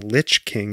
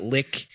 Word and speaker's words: Lich: It's not lick, it's not lish, it's not lynch.